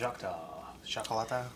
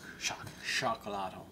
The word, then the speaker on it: Xocolatl: Well, it's a S sound, not a Z. Or not a... Xocolatl. It's not an X sound, because X doesn't make sounds. Xocolatl.